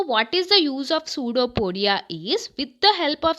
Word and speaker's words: pseudopodia: Pseudo, P silent here, P is silent.